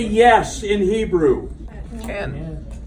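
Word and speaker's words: כן: say yes in Hebrew Ken Ken now that Ken and Barbie not cave there's no Cain in Hebrew it might interest you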